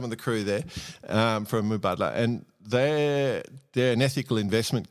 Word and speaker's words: Mubadala: sponsor for the last Mubadala? Yeah, How do you pronounce it?